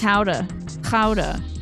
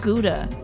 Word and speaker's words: Gouda: I learned the other day it's pronounced howa ka and not gouda.